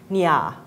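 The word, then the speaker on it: Nya: And the girl's name, the correct pronunciation is actually Nia.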